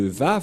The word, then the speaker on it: Vav: J'espère que vous voyez bien maintenant que la prononciation de Vav, c'est V. Voilà le Vav. Le phonème de ceci, lorsque on prononce avec votre bouche et votre langue, c'est V d'après Wikipédia. C'est-à-dire, personne ne peut contester le Vav, c'est bien un V, la bonne prononciation.